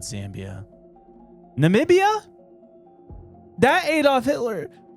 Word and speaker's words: Namibia: N Namibia. Namibia. I thought it was Nambia at first. That is another place. That's Zambia, right? Not Zambia. Namibia.